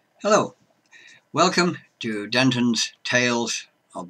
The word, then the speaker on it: Hel: 1160 to 1220 ad her name is Hell spelled with one L and no a added on she was hell not hella she is often in